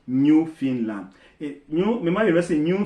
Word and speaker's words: Newfoundland: find it is spelled Newfoundland but it's actually pronounced New Finland a new reminder University New Finland and Labrador